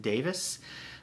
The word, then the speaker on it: Davies: if she's Welsh uh her name is spelled like we would say in the United States Davies but I know in the UK they pronounce it Davis um and that I